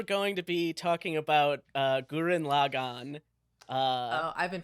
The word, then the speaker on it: Gurren Lagann: Yeah, today we're going to be talking about Gurren Lagann. I've been pronouncing that wrong for a long time.